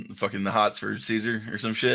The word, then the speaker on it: Caesar: and KO like demanded Caesar read the letter like during the debate which by the way fun fact it's supposed to be pronounced kaisar is it really yeah